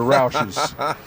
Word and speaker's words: Roush: that's a Roush okay so I hear people call them rushes they're not rushes they're Rouses Jack Roush would be